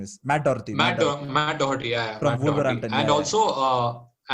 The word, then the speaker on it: Matt Doherty: How do you pronounce his name? Matthew Doherty or something. His name is Matt Doherty.